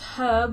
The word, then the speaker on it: herb: For example, in Britain, we pronounce herb with an audible H. However, in the USA, it is common to treat the H as silent.